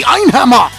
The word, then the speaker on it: Einhammer: The other guy is the Einhammer. And I say it like that way because Ein is 1 in German.